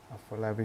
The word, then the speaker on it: Afolabi Solebo: Is that the correct pronunciation of your name? Afolabi Sholebo.